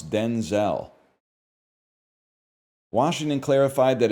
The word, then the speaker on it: Denzel: That's how we got to pronounce Denzel. Washington clarified that his first name was originally pronounced Denzil as opposed to the Denzel he uses now.